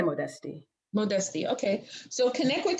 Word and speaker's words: Modeste: say your last name it's either modest or modesty um either way is fine with me how do you say it I say modesty modesty okay so connect